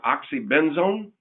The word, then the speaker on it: oxybenzone: So it's, Nicole, how do you say that word? Oxybenzone? Correct.